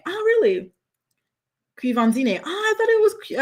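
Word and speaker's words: Quvenzhané: He says it's pronounced Quivanzine. Oh, really? Quivanzine. Oh, I thought it was Quivanzane.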